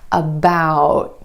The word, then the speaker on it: about: Instead of that true T at the end, most Americans are going to hold that T, about. My tongue tip goes to the ridge behind my teeth and just stays there.